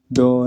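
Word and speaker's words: doh: So the first note is called do, as in D-O-H, do.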